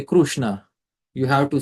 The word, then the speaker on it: Krishna: So the exact pronunciation should be Krishna. The R should be extended.